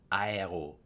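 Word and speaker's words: aéro: we say in English the French pronounce the a then the E and the O Aero so you go ah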